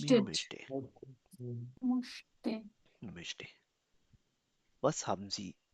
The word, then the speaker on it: möchte: Möchtest. Er, sie, es, he, she, it. Oder eine Singularname, कोई Singular Name भी हो सकता है. Zum Beispiel Matteo. Matteo German सीखना चाहता है. Matteo most, möchte.